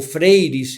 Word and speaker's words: Freire: Estamos hablando de un brasileño, Paulo Freire, o Freires en la pronunciación portuguesa.